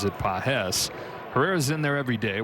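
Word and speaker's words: Pagés: Spelled the same way as Andy Pahes, but he pronounces it Pahes.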